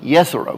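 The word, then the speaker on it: Jezero: We came to a place called the Jezreel Crater, pronounced correctly, Jezreel Crater.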